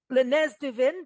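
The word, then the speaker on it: Le Nez du Vin: You get Lenz Duin.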